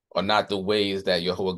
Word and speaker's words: Jehovah: So in the Hebrew text, the name is, we pronounce it here as Jehovah. Many people pronounce it as Yahweh, but the Hebrew consonants of God's name are Yod-Heh, Waw-Heh, which corresponds to YHWH in the English language.